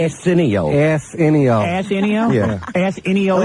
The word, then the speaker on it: Arsenio: Is Arsenio your enemy, too, Club Soda? I don't think you're pronouncing his name right. What is his name? Arsenio.